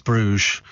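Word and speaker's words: Bruges: good it is really so it's called Brugge pronounce Brugge I wish they wouldn't do things like that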